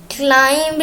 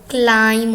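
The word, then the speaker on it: climb: क्लाइंब नहीं होता दोस्तों, क्लाइम होता है और इसका मानी है ऊपर चढ़ना।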